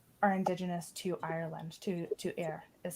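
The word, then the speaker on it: Éire: Newfoundland, of Ukdagamguk, are indigenous to Ireland, to Eire, is how you say that in Gaelic, in Irish Gaelic.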